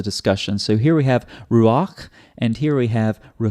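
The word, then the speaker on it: רוּחַ: then the vowel but sometimes you pronounce the vowel and then and then the consonant that's the case here that's why it's Ruach not Ruka because the vowel comes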